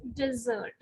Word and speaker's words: desert: So when there is a single S, it's desert.